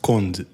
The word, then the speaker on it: Conde: So my last name in Portuguese is pronounced Conde. Okay. So I guess you would read it as Conde. So when I tell people, I say it's like Bond, but with a C, like James Bond, but with a C.